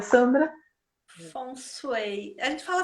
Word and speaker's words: Feng Shui: Feng Shui, como é que a gente pronuncia, Sandra? Feng Shui. A gente fala Feng Shui que é mais fácil.